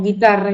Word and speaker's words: guitarra: g o gui ante la e i que se decía guerra o guitarra y no se pronuncia la u sin embargo ante eh